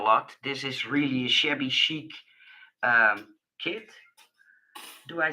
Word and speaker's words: shabby chic: This is really a shabby chic kit. Do I say that correctly? Shabby chic?